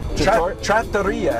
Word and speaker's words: trattoria: Trattoria, actually. Trattoria. Yeah, Trattoria is Okay. the Italian pronunciation.